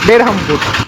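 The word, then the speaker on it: Berhampur: তবে উড়িষ্যার বহরমপুর উচ্চারণ হলো বেরহামপুর। আমাদের যেমন বহরমপুর তেমনি উড়িষ্যার হচ্ছে বেরহামপুর, উচ্চারণটা একটু আলাদা।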